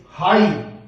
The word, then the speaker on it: high: जैसे HIGH हाई, आप GH को मत बोले, HI का मतलब हाई, इसको ऐसे प्रोनाउंसिएशन करना है।